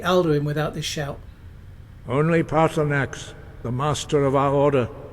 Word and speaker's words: Paarthurnax: Paarthurnax. If you need anything else, just ask. I wonder. No, surely not. A ridiculous notion. You think he might be a dragon, Lucian? It's 3 syllables.